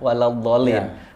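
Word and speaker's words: وَلَا الضَّالِّينَ: Ketika sudah selesai 3, baru masuk ke lam. Lin 2. Ya. Jadi bacanya waladdallin.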